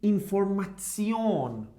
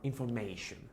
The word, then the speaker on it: Information: A combination between T-I-O-N, it should be like Zion pronounced. Zion. Die Information. Okay? We don't say anymore information.